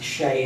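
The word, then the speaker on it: Xe: It goes by the name of Shay. But even if you go Google Shay, you won't find it, because Shay is spelled X-E.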